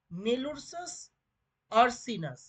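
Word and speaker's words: Melursus ursinus: মেলুরসাস আরসিনাস। কেটে কেটে নেবে, কেমন? তাহলে বানানটা কেটে কেটে নিলেই তোমরা উচ্চারণটা করে নিতে পারবে এবং স্পেলিংও মনে রাখতে পারবে।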